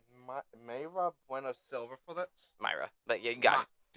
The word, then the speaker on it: Mayra: Myra.